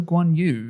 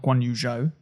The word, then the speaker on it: Guanyu: didn't see much of joe guanyu is how he wants to be pronounced apparently not guan yuzhou um so we need